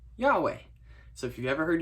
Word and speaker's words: Yahweh: the hebrew word that's spelled yhwh now normally we fill in the vowels and we call it yahweh so if you've ever